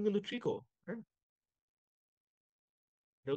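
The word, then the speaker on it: tricot: এর ট্রিকো টাইপ মেশিনে ইউজ করা হয় এটার উচ্চারণ কিন্তু ট্রিকো হ্যাঁ এটার উচ্চারণ কি ট্রিকো এটার উচ্চারণ হলো ট্রিকো আচ্ছা এটা এটার উচ্চারণ হলো ট্রিকো আচ্ছা তো এখানে দেখো ডিফারেন্ট পার্টস অফ বেটারাল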